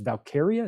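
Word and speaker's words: Valkyria: can't say her name I keep wan to say Valkyrie it's not Valkyrie it's valkaria is that the [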